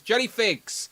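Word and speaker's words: JellyPhigs: Jelly Figs said I was saying their name wrong all the time because I see the PH. My brain goes crazy. But it's Jelly Figs.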